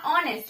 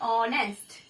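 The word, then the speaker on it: honest: वैसे ही आ गया ऑनेस्ट, ऑनेस्ट में एच कॉन्सेंट, H silent, ऑनेस्ट, ऑनेस्ट, और शब्द यूज हुआ, ऑ के लिए जो है हम एन आर्टिकल का यूज करते हैं।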